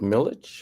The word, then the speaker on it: Milich: And this week we've got Andrew, do you pronounce it Militch or Milik? Milik. Milik, that's what I thought.